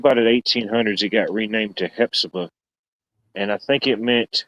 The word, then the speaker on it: Hephzibah: couple days uh it's in the town of Hephzibah, Georgia. Uh that's spelled H E P H Z I B A H, Hephzibah, Georgia.